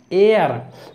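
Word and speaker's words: heir: रोगी पेशेंट, वारिस एयर, देखिए इसमें एच साइलेंट है।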